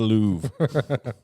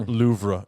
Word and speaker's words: Louvre: a place in the louvre or louvre if you pronounce it the way they spell it um that's how americans would say it that's right the lowry